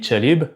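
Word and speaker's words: كلب: En Irak, par exemple, kalb le chien, ça se dit chalib.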